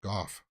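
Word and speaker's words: Gough: She's Irish surname is Irish. We pronounce it Goff.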